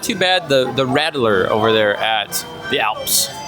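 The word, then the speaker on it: Radler: Also, your rattler, or is that what it's called? Yeah. Rattler, isn't that a snake? Like a rattler? Like a rattlesnake? Yes, this is but it's spelled differently. R-A-D-L-E-R.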